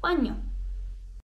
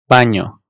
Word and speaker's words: baño: N ise bu N harfinin üzerinde bir şekil şukul olan bir harf. Bu da bizim N ve Y harflerimizin birleşmesiyle oluşuyor. Yabancı olduğumuz bir ses değil, baño. Baño, español, cariño, champiñones, uña, madrileño.